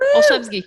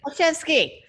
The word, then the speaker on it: Olszewski: Olszewski, you got it. Olszewski.